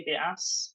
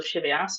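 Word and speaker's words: Scivias: first work which is called the skivias or the Chevy ass if you use ecclesiastical pronunciation in her prologue she's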